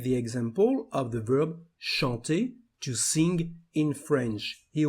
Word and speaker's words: chante: Well, the first forms, the singular forms, we don't pronounce the letter E at the end. We just emphasize the consonant before. So here, the pronunciation of the first form is chante.